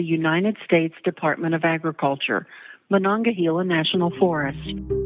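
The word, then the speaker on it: Monongahela: Thank you for calling the United States Department of Agriculture, Manangahila National Forest.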